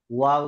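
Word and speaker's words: وَ: ওয়াও জবর ওয়া। ওয়াও জবর ওয়া। হ্যাঁ, এটা খেয়াল রাখতে হবে, আমরা ওয়া উচ্চারণ করেছিলাম দুই ঠোঁট গোল করে শুরু হবে, তাই না?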